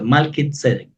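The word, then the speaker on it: מלכי־צדק: siempre según el orden de malkit sedec Así es como se pronuncia malkit sedec para comprender mejor lo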